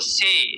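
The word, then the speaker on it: ثے: এরপরে হলো সে, আমরা আরবিতে পড়ছি সা।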